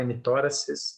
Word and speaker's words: hemitóraces: Na inspeção, se ele for muito grande, ele pode gerar assimetria entre os dois hemitóraces, esse é o jeito certo de falar, hemitóraces, né?